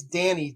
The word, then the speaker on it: Dani: So my main character, the love interest, her name is Danielle, but it's Danny, D-A-N-I. And the very first time they said her name, they pronounced it Danny, and then every time after that, it was Donnie.